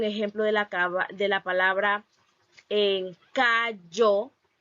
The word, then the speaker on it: callo: Entonces, la palabra, también tengo un ejemplo de la palabra en callo, callo, y cómo los hablantes lo pronuncian la palabra callo, callo.